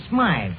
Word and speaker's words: Smythe: The name of the dame is Smythe, Finnegan. It's a society name. You know, it's spelled Smithy.